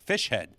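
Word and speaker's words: Fischer-Z: word Z but uh they pronounce their band fish head which uh I I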